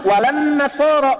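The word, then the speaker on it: wa lan-nasara: Cuman kita bacanya pakai kan alif lamnya syamsiah tuh. Ya, lamnya masuk ke nun. Walan nasara. Padahal itu tulisannya la.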